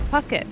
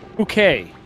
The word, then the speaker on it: Puckett: It's Puckett, right? Nathan Puckett? Pookay. Nathan Pookay.